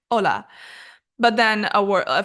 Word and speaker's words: hola: any language for example hola has an H but you don't pronounce it you don't say hola you say hola but then a word